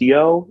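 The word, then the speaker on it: Yoh: charge of it he I think it's pronounced yo it's y o h and um he used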